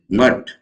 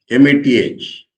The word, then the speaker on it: Math: Now this Mat, M-A-T-H. I have heard Tamilians pronouncing it as math, because H is there.